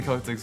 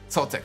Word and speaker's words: Celtics: It's so confusing because when you talk about like, you know, the people that have the name spelled the same way, it's the hard C. But this is a soft C, which is so weird.